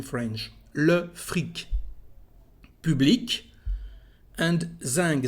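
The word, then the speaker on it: zinc: And zing. Zing is special actually because the letter C at the end is said like a G in French. Zing, zing.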